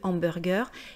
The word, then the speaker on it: hamburger: Donc hamburger contient un H aspiré, donc on doit dire le hamburger.